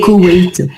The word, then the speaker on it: Koweït: Ouais, le Et- Koweït. En français, on Koweït.